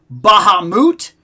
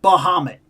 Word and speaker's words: Bahamut: We have had both pronunciations Bahamut and Bahamut both both in official Final Fantasy projects.